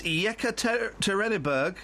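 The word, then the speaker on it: Yekaterinburg: first I want to hear what what's the pronunciation of that Russian town oh for crying out loud it's yeka terberg oh that's brilliant are youed have a friend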